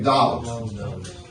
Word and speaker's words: doubt: Проговорим doubt. B is not pronounced.